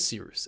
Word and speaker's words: Cyrus: My name is Seeroos. It's spelled like Cyrus, pronounced like Seerooster, just take out the ter.